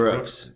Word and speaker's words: Rooke5: It's pronounced Rooks.